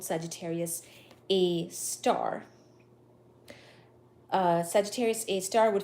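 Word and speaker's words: Sagittarius A*: are too funny uh so apparently Sagittarius A star is part of the name Sagittarius A star pronounced like that the angular size of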